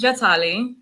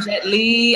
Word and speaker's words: Jatali: My name is Jatali.